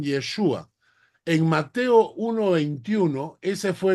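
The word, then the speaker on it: ישוע: el término al costado el término hebreo se pronuncia yeshua es sea el término hebreo que se traduce como salvación o como señor se traduce como yeshua es decir los hebreos pronuncian yeshua en Mateo 1:21 Ese fue el nombre que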